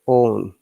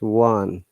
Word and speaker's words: one: this sound one yeah very often people are confused about pronouncing this word they say own don't say own okay it is one same as o any one even the american ips